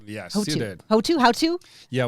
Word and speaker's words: Houttu: Houttu? Yeah, we say Houttu in Finland.